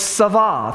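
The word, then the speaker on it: Sabaoth: It's got a T, but the T is silent, and the Ba in the original language is pronounced more like a V, Va. So it's Savah, if you want to pronounce that correctly.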